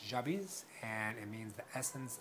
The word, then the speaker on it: Jabiz: Jabiz, which is actually, the way my mom pronounces it, is Jabiz. And Jabiz, it sounds weird for me to pronounce it that way because I've gotten so used to Jabiz, but it apparently means